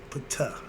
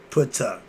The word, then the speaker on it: Ptah: termed physical reality, and the concept of consciousness. We're dealing with the conscious of Ptah, or more better known as T. The P is silent.